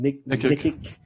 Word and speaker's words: Nikic: Nikic.